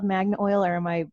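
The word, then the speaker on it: Magnil: find and it's called magnet oil or am i pronouncing it wrong it's you can call it magna oil it's actually spelled magnol without the a m-a-g-n-i-l but many people call it magna oil as well uh but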